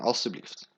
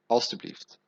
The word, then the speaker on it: alstublieft: mag ik de rekening alstublieft? Maybe a bit complicated, but mag ik, may I? Mag ik, may I have actually? De rekening, rekening, alstublieft. Alstublieft. Alstublieft. We always pronounce it on the end.